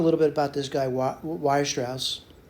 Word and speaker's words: Weierstrass: Now, let me just talk a little bit about this guy, Weierstrass, right?